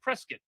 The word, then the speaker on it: Prescott: Prescott, Arizona is actually Prescuit Arizona.